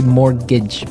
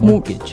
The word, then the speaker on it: mortgage: It has a T in it, but you don't pronounce it. You say mortgage. mortgage.